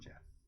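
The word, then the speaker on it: Goff: Jeff.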